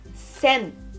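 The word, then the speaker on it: 千: E a pronúncia é sen, não é 100, é sen.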